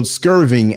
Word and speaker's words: Skirving: the show right archal skirving actually I said Sterling but phonetically see skirving is SK k i RV i n g but they didn't have